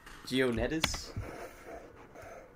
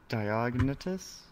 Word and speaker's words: Diognetus: I do like the when you mentioned how do you pronounce his name? Geonetis? I forget how to pronounce his name. I think it's Diognetus.